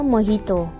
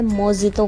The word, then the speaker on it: मोहितो: कहां आगे देखो अब हम सबको पीना था मोहितो मोहितो जिसे नॉर्मली लोग प्रोनाउंस करते हैं मोजीतो के नाम से और हम भी वही कर